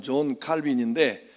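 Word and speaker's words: Jean Calvin: 그리고 그 후로 칼빈이라고 하는 이제 영어 발음으로는 존 칼빈인데 프랑스 발음으로는 장 깔뱅이라고 합니다.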